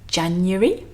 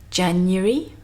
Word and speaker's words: January: So here we have the first one, and I personally pronounce this as January. January. 3 syllables and a kind of y with a schwa sound in the middle. January.